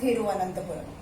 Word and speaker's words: तिरुवनंतपुरम: तिरुवनंतपुरम बोलते हैं, तिरुवनंतपुरम, लेकिन थोड़ा ये थ का साउंड आता है, तिरुवनंतपुरम, तिरुवनंतपुरम। क्या है ये? केरल का कैपिटल है तिरुवनंतपुरम। प्रैक्टिस करना पड़ेगा बोलने का आपको, तिरुवनंतपुरम। आप तिरुवनंतपुरम बोलेंगे तो भी सही है, तिरुवनंतपुरम बोलेंगे तो भी सही है, ठीक है।